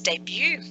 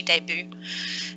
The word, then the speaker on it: debut: taken from another language because you'll see that we don't pronounce the T in it yes it's French but